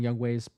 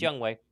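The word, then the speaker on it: Younghoe: mentioning and you probably know this am I mispronouncing young Way's name no it's young way it's young way and then last name is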